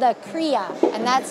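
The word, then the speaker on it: cria: question so a baby alpaca is called a kriya and that's spelled c-r-i-a oh look at that i didn't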